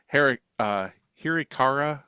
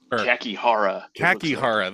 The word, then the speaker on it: Kakihara: So the whole idea of this movie is Hirikara, I think is how you pronounce his name. I always want to mix it up. But Kakihara, there you go.